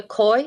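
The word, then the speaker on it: Kooij: name and address please yes uh it's coye you pronounced 340 maplehurst avenue m2n3c6 okay thank you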